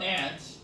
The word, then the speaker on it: aunt: She was raised by an aunt. aunt가 고모냐 이모냐 논쟁할 필요가 없습니다. 미국에서는 그냥 aunt라고 합니다. 개미랑 발음이 똑같습니다.